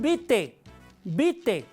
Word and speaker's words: vitae: cuando decimos currículum vitae se escribe vitae pero la a no suena no decimos currículum vitae Cómo se pronuncia currículum bite bite la a no suena